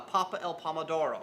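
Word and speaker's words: pappa al pomodoro: your menu but guy comes and goes uh papa el pomodoro right that's right did i say it right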